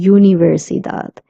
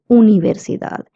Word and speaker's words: universidad: Now, U in Spanish would always be pronounced as U and not U. So that's why we're not saying universidad. We say universidad.